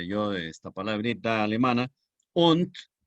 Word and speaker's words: und: Und, se escribe und con D, equivale, vean ustedes, al inglés end.